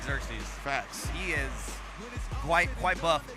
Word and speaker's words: Xerxes: Is that how that's pronounced? That's Chef Xerxes, right? Chef Xerxes, yeah.